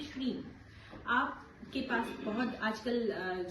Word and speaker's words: श्रीं: ऊपर डॉट होता है, आखिरी में उसका उच्चारण म, जो अंग वाला होता है, जो भी बीज मंत्र है उसमें अंग का उच्चारण होता है।